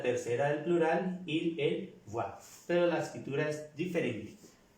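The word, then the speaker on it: voient: Quiero también recalcarles que todos estos verbos que terminan por ENT, en esta persona del plural, esta ENT nunca se pronuncia.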